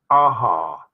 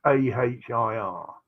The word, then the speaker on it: Ahir: Ahar. That's Ahir.